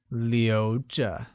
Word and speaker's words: 留着: Keep translates as 留着, which is pronounced using a mid-rising tone.